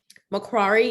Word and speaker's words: Macquarie: our next presenter um from macquarie university sydney awesome pronunciation that's right my name is